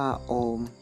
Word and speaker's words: โอม: ที่ สุด คือ ตัว อักษร ที่ อ่าน ว่า โอม มา จาก ออ บวก ปุ่ม บวก กับ มะ นะ ครับ เป็น แทน